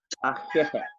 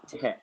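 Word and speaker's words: Ahéhee': When you spell it in the way how we spell, it's like ahehe, but you pronounce it ah ah ahehe.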